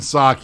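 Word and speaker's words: Psaki: her name is jim sake it's pete the p is silent it's it's a greek name um but oh my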